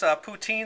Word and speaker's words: poutine: And it's pronounced what? Poutine.